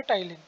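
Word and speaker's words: ptyalin: Pronunciation इसकी क्या होती है? टाइलिन।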